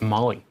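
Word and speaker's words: MOLLE: side sauce fire says it's pronounced Molly yeah see I've never understood like i i m o l l e I just assum I assumed it was like chicken chicken on mole I find hilarious you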